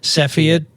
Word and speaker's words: Cepheid: ago laureen mascola and one other guest from safayad or cepheid i can't pronounce it michael cepheid cepheid really cool stuff laureen is a head